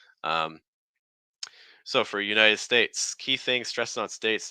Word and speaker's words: United States: next word so the United States United States most the stress is going to be on States okay um United United